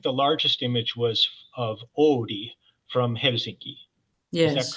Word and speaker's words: Oodi: about that particular library, it's a funny word. You have to spell it Oodi, Oodi. Yeah. So yeah, it's pretty much the equivalent of an ode in English.